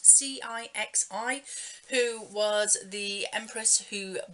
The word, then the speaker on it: Cixi: You've got the Dowager Empress Cixi, I think it's pronounced, Cixi, who was the empress who banished foot binding in China on young women.